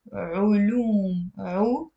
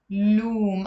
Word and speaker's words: علوم: Okay, now in the plural, if you want to say sciences, we pronounce it علوم, loom. I don't need to put the dhamma here because it's already followed by the waw.